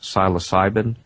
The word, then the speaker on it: psilocybin: natural substances include something like i believe it's pronounced psilocybin uh it's basically known as magic mushrooms it's